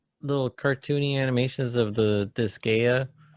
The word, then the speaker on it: Disgaea: And I'm pretty interested, like after seeing the little cartoony animations of the Disgaea 6. Mm-hmm. Is that how you say it? Disgaea?